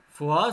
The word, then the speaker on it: Foix: Comme vous avez remarqué, ici, il y a la même prononciation, mais ce n'est pas la même signification. Foix, c'est un lieu commune française, le Foix.